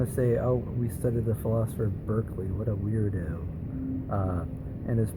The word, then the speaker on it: Berkeley: So it's pronounced Berkeley.